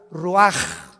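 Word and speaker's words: רוח: rach así como suena se pronuncia la c en hebreo como J ruaj se les hó y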